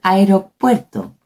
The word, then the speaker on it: aeropuerto: Same happen with aeropuerto. Es aeropuerto, no aeropuerto.